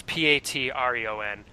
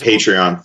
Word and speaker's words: Patreon: believe it's called a a patreon I'm probably pronouncing it wrong but uh it's p a t r e o n what that is patreon patreon thank you uh what that is is